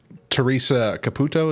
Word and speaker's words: Teresa Caputo: more fake than you might realize because uh teresa caputo is that how you say her name yep